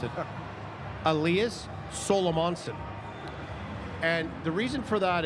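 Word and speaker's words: Elias Salomonsson: this right because I asked him how to pronounce it, Elias Solomonson.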